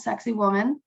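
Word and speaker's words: Sacsayhuamán: of them is called sexy woman uh that is how they pronounce it for tourists so and that is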